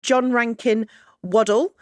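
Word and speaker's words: John Rankin Waddell: You were born in Glasgow, John Rankin Waddle. Is that how you pronounce it?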